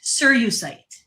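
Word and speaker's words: cerussite: It's called sir sirite sirusite sirusite that's how you pronounce it.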